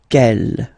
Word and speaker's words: quelle: Quelle, masculine form here, will be pronounced exactly as the feminine form here. Quelle. So only one sound, okay?